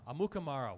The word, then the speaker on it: Amukamara: Amukamara.